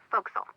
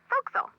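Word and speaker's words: forecastle: ship but it's pronounced fil why is that try pronouncing it like an English sailor with no formal education faux Castle fil over time it whittel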